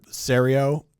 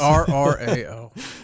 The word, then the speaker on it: Soreo: They pronounced it wrong. They said Serio, and the coach just kind of yells at Soreo. It's very clearly they are used to this. Serrao.